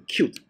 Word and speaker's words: Qt: 啊，其实你要念成 cute 啊，注意到啊，你其实这才是正确念法，念 cute 啊。